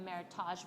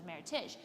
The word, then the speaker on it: meritage: like the difference between meritage verb versus meritash well meritage is how you pronounce it not meritage because it's a merriment of two heritages and so she had